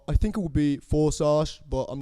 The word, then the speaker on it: Førsaj: El tema con ese nombre es que no importa cómo lo pronuncien, o sea, como lo leas es como se dice. Forsagt.